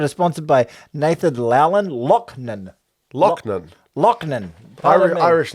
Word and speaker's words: Loughnan: We're sponsored by Nathan Laughlin. Bro, I put the pronunciation Lachlan. guide on there. Where's the pronunciation guide? Fuck, I got the wrong way around. This episode is sponsored by Nathan Laughlin. Lochnan.